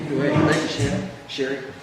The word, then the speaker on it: Sheri: Sherry. It's okay. It's spelled like Sherry, like my parents for that.